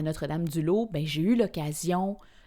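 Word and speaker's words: Notre-Dame-du-Laus: Quand j'ai déménagé de la Mauricie après mon bac, j'ai été habitée à Notre-Dame du Lot. Connaissez-vous Notre Dame du Lot ? Ça s'écrit L A U S, Notre-Dame du Lot.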